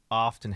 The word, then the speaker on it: often: like uh i agree the t was sometimes silent and uh pronouncing often has its returned in some modern language so it is a